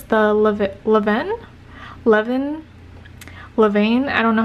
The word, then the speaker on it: Levain: Levain. It's pronounced Levain Bakery.